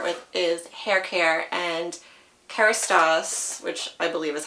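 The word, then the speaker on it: Kérastase: So the first thing I'm going to start with is hair care, and Kerastase, which I believe is how you say it,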